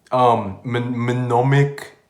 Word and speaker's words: mnemonic: I'm going to put mild, mnemonic induced lucid dream. I can't pronounce the M. Mnemonic.